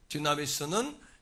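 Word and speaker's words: δύναμις: 디나미스는 여러분 권능이라는 단어를 디나미스라고 읽습니다. 단어로 표기합니다.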